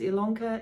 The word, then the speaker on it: Ilanka: to stitch ilanka yes my name is ilanka it's spelled with an i but pronounced with an e the yes was usually